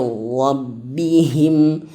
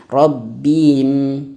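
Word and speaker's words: رَبِّهِمْ: Hudam mir rabbihim. Rabbihim, jangan rabbim, bim.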